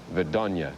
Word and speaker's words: Vidnoye: Well, Motoball will be coming along shortly from Vidnoye, or as Skip said, Vidonya. I think Das Vidonya means goodbye. I don't know if that has any relationship to the pronunciation of the town at all.